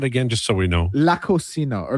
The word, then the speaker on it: La Cocina: La Cocina or La Coquina. It's spelled Cocina.